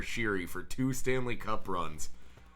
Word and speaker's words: Sheary: that was the connor connor sherry was conor sheary for two stanley cup